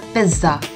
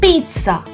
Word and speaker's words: pizza: you must learn it it's not a pizza it's a pizza a pizza the syllable in this is pronounced as a sir we call it a pizza and this word